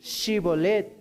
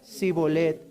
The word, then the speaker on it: Shibolet: Si él respondía no, entonces le decían: ahora pues di Shibolet. Y él decía Sibolet, porque no podía pronunciarlo correctamente.